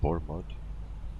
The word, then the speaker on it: Bournemouth: A little bit afraid to pronounce it, but Bournemouth. Okay, Bournemouth.